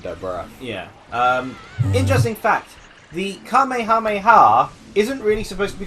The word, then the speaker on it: Kamehameha: gonna be named yeah it's actual pronunciation is the Kamehameha wave rather than you know Kamehameha it can make her